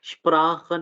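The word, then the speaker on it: Sprachen: Okay, फिर इसी तरह से हमारे पास अगर सी एच जो है उससे पहले जो है ए ओ या फिर यू आ जाए तो हम उसको खा प्रोनाउंस करेंगे, जैसे हम स्प्राखन में करते हैं, ठीक है।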